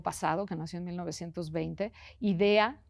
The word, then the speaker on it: Idea: Una uruguaya del siglo pasado, que nació en 1920, Idea, como qué buena idea, tal cual así se escribe, sin H, sin nada, Idea Vilariño, es contundente, es muy constreñida.